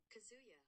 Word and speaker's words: Kazuya: Tell me, lady, how do you pronounce his name? Kazuya.